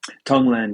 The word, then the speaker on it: tonglen: know it's what it's um and if I pronounce it correctly is it Tong Lang tonglen yeah yeah yeah Tong L and uh and